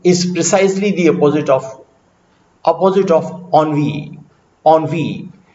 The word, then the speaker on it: ennui: Jahadaviv is precisely the opposite of ennui. Ennui. This is also a word of French origin, but is easily pronounced as ennui.